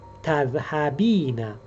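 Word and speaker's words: تذهبين: First of all, the first letter is t, and also at the end we have the extension ina. Ina.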